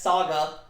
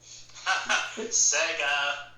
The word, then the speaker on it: Sega: He mispronounced Sega as Saga. Sega.